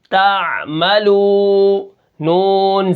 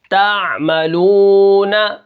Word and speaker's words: تعملون: اب یہاں پر دیکھیں تا عین زبر تا، میم زبر ما، تعم، لام واو پیش لو، تعملو، نون زبر نا، تعلمون، نون زبر نا، تعملون، وقفن تعملون، ٹھیک ہے۔ یعلمون، یفعلون،